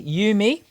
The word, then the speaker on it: Eumee: I wanted to pronounce that correctly. Yumi.